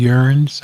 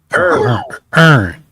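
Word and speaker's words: urn: They get into fancy urines. I think I'm pronouncing that right. Mhm. And they put them up on the mantelpiece. Did you say urine? Is it urine? Earn.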